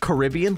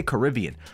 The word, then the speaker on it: Caribbean: you when I say when I say Caribbean like normally like in a regular sentence I say Caribbean but if I'm referring to the movie Pirates of the Caribbean I pronounce it Caribbean does that make sense